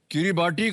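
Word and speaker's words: किरिबाती: नहीं हो सकता है किरीबाटी का नाम जो था ब्रिटिश कैप्टन टॉमस गिलबर्ट के नाम पर है जिन्होंने उनको 18वीं सदी में देखा था गिलबर्ट का उच्चारण रण बदलकर की बाटी हो गया है।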